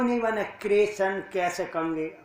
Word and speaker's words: कृष्ण: है भी कृष्ण नाम बहुत सारे लोग तो सही क कृष्ण को किशन के कृष्ण ग को कशन ग क किशन क कोई किशन के कृषण मतलब कृष्ण कोई उच्चारण साधारण नहीं कर पाए तो मैंने तो